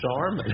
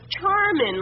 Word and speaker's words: Charmin: The name of the product was Charmin, like charming, with an apostrophe at the end.